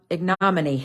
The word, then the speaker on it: ignominy: learn how to say it IGN IGN IGN ignominy there we go ignominy dishonor ignominy which means